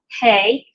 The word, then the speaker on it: He: So this is the Hey, and it's pronounced just like our H sound.